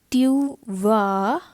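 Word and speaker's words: tu vas: go i will say tu va again this s is not pronounced here okay jovi tuva liver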